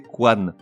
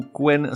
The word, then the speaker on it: couenne: les commentaires que précédemment la prononciation correcte est Quan malgré l'orthographe E2 n e bien que la prononciation couenne soit admise par certaines sources certaines sources au singulier